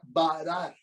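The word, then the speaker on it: ברר: limpiar pero también hay una palabra sinónima que se pronuncia varar esta palabra varar es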